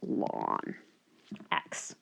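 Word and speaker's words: ln x: notation as well and we write it as lon X K so again pronounced as lon X okay and I'd like you to go ahead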